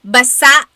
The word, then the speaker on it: basa: So basa means wet. Emphasis is on the last syllable. Basa. Basa ang damit ko. My clothes are wet. However, if you wanted to say nagbabasa ako, that means reading. Basa versus basa.